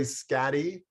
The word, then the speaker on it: Schade: Lori Scatty. It's spelled Schade.